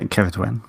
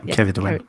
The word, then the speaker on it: Ceridwen: Yeah, Ceridwen. Yeah, Ceridwen. Ceridwen.